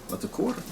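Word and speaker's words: Latécoère: That's a Latecoere. Latecoere. 631. I got that one. Oui, 631. Latecoere. Latecoere. I think it's Latecoere. Latecoere. So, what is a Latecoere? It's this. Latecoere.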